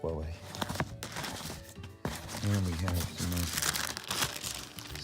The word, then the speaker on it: Huawei: Yes, it is pronounced Huawei.